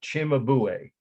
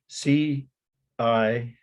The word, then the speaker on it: Cimabue: Cimabue. That would pronounce it like CH. CIMABUE.